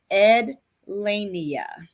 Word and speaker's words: Ed Lania: No, it's really not as hard as it looks. It's Ed Lania.